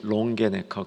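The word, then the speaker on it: Longenecker: 여기 저자가 밑에 있습니다 발음이 좀 어려운데 롱게네컷 그렇게 발음합니다 제 선생님이십니다 이제 금요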